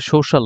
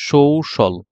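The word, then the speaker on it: social: প্রোনাউন্সিয়েশনটা আসলে কি হবে সোশ্যাল এটা আসলে সোশ্যাল না এটা হচ্ছে সৌশল দেখেন সৌশল তাহলে আমরা যদি এখন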